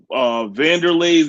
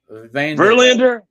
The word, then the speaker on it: Verlander: The Vanderleis, the Andy Pettits, the Clemens. I think you're saying his name wrong. Who? Verlander. Verlander.